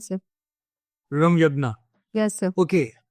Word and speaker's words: Ramyagna: It's pronounced as Ramyadna sir. Ramyagna.